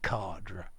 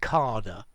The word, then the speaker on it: cadre: of something so let's go back to the pronunciation again i say cardra you'll hear many people say carder yeah british and you will hear many americans say cadre um in my opinion the other two pronunciations